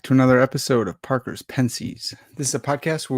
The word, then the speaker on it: Pensées: I know that it's Pensées.